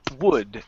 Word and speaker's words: would: be a destination okay don't pronounce the L it's not W okay the L is silent it's would there would be a